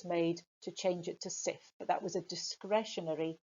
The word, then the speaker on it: Cif: the UK called Jif, J-I-F, changing it to Cif, C-I-F.